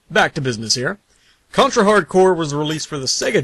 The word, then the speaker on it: Hard Corps: do something that's totally hardcore, which just happens to be Contra Hardcore. Also, the next person I hear that pronounces this as Hardcorpse, which 90% of those